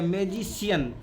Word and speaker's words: magician: मैजिशियन। उच्चारण इसका क्या हो जाएगा? क से उच्चारण तब्दील हो जाएगा स में।